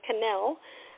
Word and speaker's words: Kennel: like canel otherwise the people always say kennel but it's not kennel it's canel um it's Canadian um